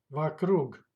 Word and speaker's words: вокруг: Вокруг. Вокруг. Stressed goes to last syllable.